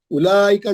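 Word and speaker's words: أولئك: वाउ इसमें silent है, वाउ नहीं पढ़े जाएगा.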